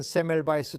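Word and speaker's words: Semmelweis: 발음은 세멜바이스 또는 바이스로 다를 수 있죠.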